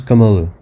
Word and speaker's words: Kamala: Ah et oui, attention, on prononce Kamala.